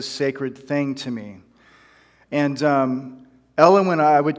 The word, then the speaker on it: Elowen: Her name is Elowen, which rhymes with hellion.